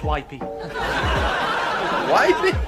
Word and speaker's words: Whippy: one of the doctors it's pronounced wipy wipy that's worse isn't it